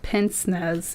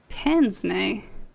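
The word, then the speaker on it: pince-nez: beard and an old-fashioned Pence I'm going to pronounce this wrong it's not Pence Nez it's like now I gotta check it's I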